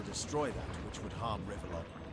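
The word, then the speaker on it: Rivellon: Our job is to destroy that which would harm Rivlon. You know, it's it's pronounced Rivalon, but I always say rebellion.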